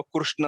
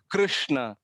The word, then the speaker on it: कृष्ण: बोल रहे गिरीश ना होना चाहिए दूसरा व कृष्ण और है दोनों भी नहीं होना चाहिए पिच में मीडियम लिफ्ट गाना रुक कृष्णा कुछ तमिल हॉट लाइन नहीं चाहिए सिर्फ उसका